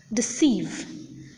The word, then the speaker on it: deceive: For instance, in the words like about, deceive, delight, the second syllable is accented.